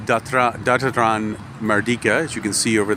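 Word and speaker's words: Dataran Merdeka: it's a sports field and um and it's pronounced datra datran mardika as you can see over there and uh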